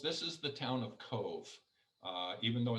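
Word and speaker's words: Cobh: few more photos this is the town of cove uh even though it's filled with a b isn't boy is pronounced cove like a b as in victor this was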